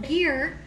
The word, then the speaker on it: GIR: spatulas are my favorite they're called gear but they're spelled like gir and don't say ger on Instagram because they won't re-share your stuff because you lose credibility say their name wrong it's gear like I don't even